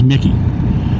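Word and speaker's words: Michie: This little lake we're going by, Lake Mitchi, or is it Mickey? I think it's Mickey. Spelled Mitchi, but it's pronounced Mickey.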